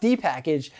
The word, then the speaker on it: dpkg: a link in the cards number 12 dpkg pronounced d-package this is the debian package manager simply put